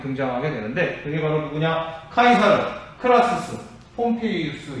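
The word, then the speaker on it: Caesar: 근데 시저라고 읽으면 안 되고요. 카이사르라고 읽는 게 좀 더 정확하겠죠. 카이사르. 케사르라고도 하는데요. 하여간 원어에 가깝게끔 발음을 한다면 카이사르가 되겠습니다.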